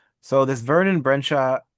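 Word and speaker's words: Brejcha: So, this Vernon Brensha, how do you pronounce that? Brensha. Uh Vernon Bredka. Bredka.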